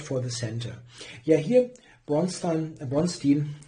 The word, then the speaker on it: Bronstein: Yeah, here Bronstein, it's difficult to pronounce it in the English way when you are totally used to saying Bronstein in German.